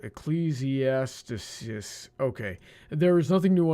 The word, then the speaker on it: Ecclesiastes: that right, I feel like I'm missing a syllable. Ecclesiastes.